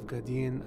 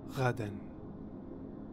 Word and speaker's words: Ghadan: Next we have Ghadhean al-Fali, as Herbert says. Ghadhean al-Fali. Which is obviously an Arabic name, and it should be pronounced Ghadan.